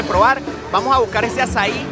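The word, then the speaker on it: açaí: Bueno, conseguí un puestico para probar el azaí. Miren cómo se escribe. Con C de Sevilla, que se pronuncia como una S. Tiene acento en la I, azaí.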